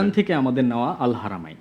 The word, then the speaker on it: Al Haramain: হ্যাঁ, আল হারমাইন। হারামাইন হারামাইন, রাইট। আল হারামাইন মানে হারাম বলতে যেন না হয়, এই জন্য বোধহয় বাঙালি ভুল উচ্চারণ করে, রাইট?